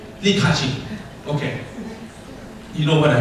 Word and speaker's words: Li Ka-shing: Lai Kai-shing? Yeah. Okay, for example, if today you see Lai Kai-shing, okay, go to, how do I pronounce it? Li Ka-shing.